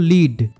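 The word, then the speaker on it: lead: এক্ষেত্রে দেখো প্রথম সেন্টেন্সে এল ই এডি হলো লিড কারণ এখানে এটার অর্থ পথ দেখিয়ে নিয়ে যাওয়া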